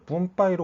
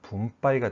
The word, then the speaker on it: 分配: 뿜빠이로 오해하시는 분이 많이 계시는데 발음 조심하세요. 뿜빠이가 아니라 뭐라고요? 예, 분빠이가 되겠습니다.